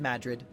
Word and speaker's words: Madrid: technically it's spelled Madrid but all the locals pronounce it as Madrid small place mining town don't suppose anyone's heard